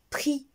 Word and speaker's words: prix: elles sentent bien ou bien dans le mot prix le prix quand vous partez à un supermarché vous trouvez des produits et ce chaque produit il y a le prix d'accord alors le prix dans tous les trois mots que j'ai affiché